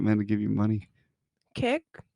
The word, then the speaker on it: Kik: Kick? I think it's kick. Yeah, that's how you say it.